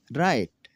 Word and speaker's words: write: अगर किसी लफ्ज़ में W हो और उसके बाद R हो तो W हमेशा साइलेंट होगा। तो नाज़रीन चलो देखते हैं कैसे साइलेंट होगा ये। राइट लिखना, रॉन्ग गलत, रेप लिपेटना, रेत हार।